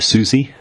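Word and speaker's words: Siouxsie: The final one is from Sifu Lamas, who suggested, I think it's pronounced Susie, and the Banshees, a 70s rock band.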